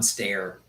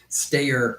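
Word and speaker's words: Steyer: Tom Stayer. Stayer, I guess is the correct pronunciation.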